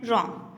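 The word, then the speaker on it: RAM: Memory 2 types की होती है, रैम एंड रोम। रैम pronounced as रैम stands for रैंडम access memory.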